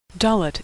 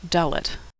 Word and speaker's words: Dalet: Dalet is pronounced like the D in door. Dalet.